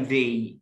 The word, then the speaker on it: the: طبعا ده حرف المركب بيقولها ذا، هنا ما بقولش ذا، اقول ذي، ذي، ذي انجري، عشان الاي هنا ده متحرك فهنطق الذا ايه؟ ذي انجري، اسمها انجري، دي ستارت